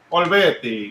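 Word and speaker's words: Olivetti: Oh man, it sucks because from his Domestica course on Ariel Olvetti. Is that how you say it? Olvetti, yeah.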